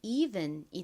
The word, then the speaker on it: even: 여기서 이는 에, 이 소리 중 이 소리로 쓰였습니다. 조금 길게 소리가 납니다. 그리고 ven은 ven 소리 나죠? 연결하면 even이 됩니다.